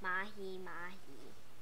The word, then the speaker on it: Mahimahi: That's how you pronounce Mahimahi.